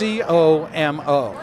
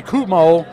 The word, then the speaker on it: Como: It's actually Kumo, but I'm from Georgia, so I'll pronounce it Como, and everybody gets a laugh.